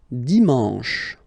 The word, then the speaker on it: dimanche: And the last one, dimanche, dimanche. You get the sh, and then an, en, dimanche, okay?